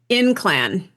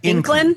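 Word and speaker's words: Ynclan: Yeah, this is Inclan, I think is how you pronounce it. The spelling is Y-N-C-L-A-N. Okay. Inclan, maybe?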